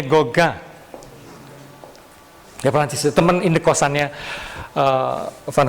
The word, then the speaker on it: Gauguin: Gauguin, bacanya Gauguin.